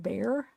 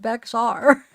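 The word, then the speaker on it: Bexar: need to know yeah right it's bear but pronounced bear bear oh is it really it's pronounced bear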